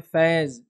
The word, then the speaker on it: फैज़: मेरे नाम का फिर एग्जांपल देता हूँ, मेरा नाम है फैज़, FAIZ इंग्लिश में मैं लिखता हूँ याद रखिए, लेकिन मेरे ही नाम को लोग अक्सर मुस्लिम सी फयाज़ बोलते हैं, अगर मैं फैज़ ही बोलूँगा तो